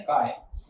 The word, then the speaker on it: chi: Mole fraction का symbol होता है काय, इसकी स्पेलिंग है CHI, आप कुछ भी प्रोनाउंस कर लो इसको, ठीक है, काय बोलते हैं, ठीक है।